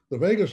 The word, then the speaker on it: vagus: Now, the vagus nerve, which is the most, by far, you may, if you've never heard of this, it's pronounced just like Las Vegas, but spelled V-A-G-U-S.